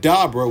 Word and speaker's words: Dabura: They mentioned that Dabra, which is how his name is supposed to be pronounced, because it's a pun on something that I'm gonna get to in a second.